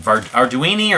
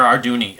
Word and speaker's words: Arduini: guy named victor arduny that's how he spells it how he pronounces him arduini or our dooney um here's the yeah